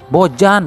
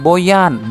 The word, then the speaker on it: Bojan: ada yang komentar nih Bang bojan bukan Boyan jangan sok-sokan ganti nama orang deh terserah situ mulut-mulut saya yang penting saya bener kok ngucapinnya dia itu Boyan hodaq Ya emang tulisannya bojan orang Indonesia bacanya bojan gitu aja kenapa sih dibikin